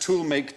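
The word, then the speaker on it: Tollemache: toh tolh family it's double barrel same name but each half was pronounced differently oh so it's pronounced tool make toh the tool make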